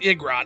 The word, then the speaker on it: Ygrod: Ygrod is pronounced Igrod.